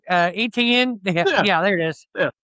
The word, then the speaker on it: Etienne: How do they say his name? Eating me? No, Etienne.